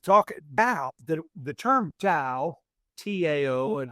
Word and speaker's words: Tao: The trouble with talking Tao, the term Tao, Tao, and it's pronounced Tao, it actually means way.